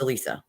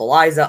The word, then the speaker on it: Alisa: me Elise it's easier people call me Elise instead of Alisa because some people can't say Alisa the way it's spelled it's Eli I used to call get called Eliza Alisha Alissa um all sorts of stuff when I was in school they could never just read it Alisa so I just I